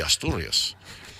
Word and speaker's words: Asturias: The Asturias. It's the Castilian pronunciation, the t sound.